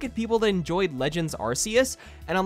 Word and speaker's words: Arceus: there's sound it says arceus on the on the little google thingy yeah oh british say it differently brothers say rks i keep hearing art